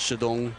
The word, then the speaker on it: Shidong: His nickname is Stone, mostly because Shidong sounds like Chateau, which is a poor pronunciation of the Chinese word for stone.